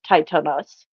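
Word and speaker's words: Tithonus: titanos titanus um it it's spelled tonus but it's titanus um and he was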